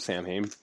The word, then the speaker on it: Samhain: Made a video talking about Sam Hain a lot. And first of all, I just want to say I know it's not pronounced Sam Hain. I know it's Samhain, but I didn't want to